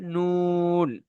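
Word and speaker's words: ن: 9 নম্বর মাখরাজ, জিভের আগা এবং তার বরাবর উপরের তালুর সাথে লাগিয়ে উচ্চারণ হয় নুন।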